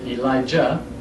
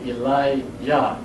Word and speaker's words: Eliyah: For those of you that are not familiar with the word Eli-Yah, most people say Elijah, E-L-I-J-A-H. But the Jah is not proper pronunciation. It should be Eli-Yah.